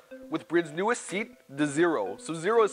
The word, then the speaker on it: XERO: bridge Japan Canada with brids newest seat the zero so zero is spelled Tec CRO and is bridged newest seat